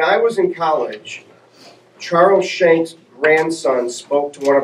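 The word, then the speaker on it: Schenck: political science classes and he said that it's technically skank but I always kind of stayed away from that pronunciation Frankenstein Frankenstein right skank sounds a little yeah so I've just always gone with shank but I I think technically SK based on what he said anyway uh four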